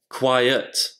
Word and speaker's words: quiet: Quite, quiet, quite, quiet. Dans les deux cas, on prononce bien le T à la fin.